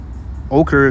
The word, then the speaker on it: ochre: what is uh the red U ochre that's how you pronounce it it's a um a